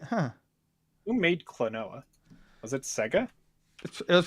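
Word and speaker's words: Klonoa: the Switch, but anyway, Clonoa, how do you pronounce Clonoa. Clonoa, thank you.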